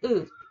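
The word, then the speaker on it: ㅡ: Ư của Việt Nam mình thôi, Ư. Ư thì mình chỉ vẽ một gạch ngang từ trái sang phải là xong chữ Ư.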